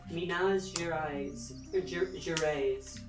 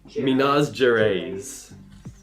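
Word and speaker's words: Minas Gerais: Oh, I think that might be pronounce something like mina jer jer.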